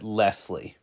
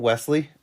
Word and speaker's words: Wesley: up working yeah I would always get lesle what's your name Wesley oh lesie no Wesley Lesley okay you could call me Lesley even the worst is